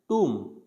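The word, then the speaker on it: tomb: जब इसका फोनेटिक बनाते हैं तो इसको लिखते हैं टूम, क्या लिखा जाता है, टूम, तो इसको टूम लिखना है, टॉम्ब नहीं लिखना, या टूम नहीं लिखना, तो उसको बोलना है टूम।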